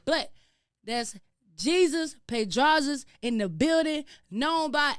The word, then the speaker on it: Pedraza: You may know him by, but if you know him personally, you know him by Jesus Pedrazas.